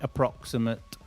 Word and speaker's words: approximate: So when you see the suffix A-T-E at the end of a noun or an adjective, the pronunciation is always ut. Private, elaborate, okay, approximate, always ut when it's ate on the end of a noun or an adjective. Example of a noun with ate on the end, we all love this one, chocolate.